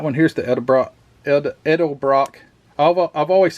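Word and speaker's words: Edelbrock: then these breathers um Ed Brock edel Brock let me say it right this is the one with the fins on it all the way down edel Brock and uh these are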